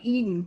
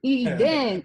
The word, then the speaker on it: Eden: Some people like to run it together like Eden. We'd be like, what? Like you eating something? No, Eden, E-D-E-N.